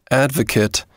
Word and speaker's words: advocate: verb it means to support as a noun pronounced advocate it means someone who supports someone or something